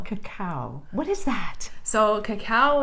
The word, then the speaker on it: cacao: I'd like to know is how do you pronounce that cacao cacao what is that so cacao is the raw